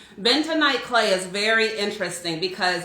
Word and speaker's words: bentonite: um that's what the benedike clay looks like now benedike clay is bento night clay i keep saying it wrong bentonite clay is very interesting